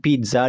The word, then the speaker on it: pizza: Lalu kemudian pizza di sini yang kita tekan adalah silabel pertama. Pizza. Not pizza, tapi pizza.